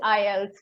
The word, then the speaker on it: IELTS: Oh yeah, Sorry, it is IELTS phonetically. It never occurred to me to say it as a word. This is the first time I heard it.